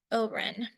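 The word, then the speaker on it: Haut-Rhin: ALU um and I probably won't get the pronunciation correct but it's barin and Oren so they're not exactly equivalent to the concept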